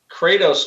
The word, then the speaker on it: Kratos: I I think uh Kratos just rhymes with crater that's what looks like